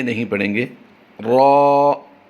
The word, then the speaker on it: را: ذال، را را را، رے نہیں پڑھیں گے، را را را، زا زا زا، اس